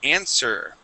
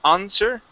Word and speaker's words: answer: First up is going to be the word answer, okay? So instead of saying answer, okay, we would say answer. We use that, what I call the American whiny A, okay?